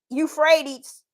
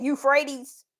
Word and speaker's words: Euphrates: what is actually going to take place that eup frees that Euphrates River now I said it right that time